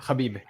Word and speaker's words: Habib: That's how you say it, Habib.